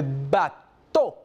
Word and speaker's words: bateau: Le bateau. Le bateau. La E, la A y la U se pronuncia como una O en francés. Por lo tanto, vamos a decir bateau.